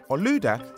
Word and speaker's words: Olaudah: In Nigeria, where he came from, they pronounce his name Olaudah. Olaudah spent many years of his life as a slave.